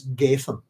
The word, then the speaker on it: Gadhean: you pronounce that is it's like Nathan but with a G so it's Gan if you like um